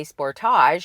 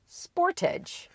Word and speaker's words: Sportage: In Canada, we say Sportage. In the US, Sportage.